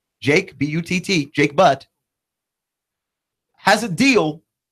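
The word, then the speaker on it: Butt: year in in college Jake but spelled exactly like how you think it is spelled Jake bu TT Jake but has a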